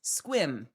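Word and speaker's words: Sequim: That one is Squim.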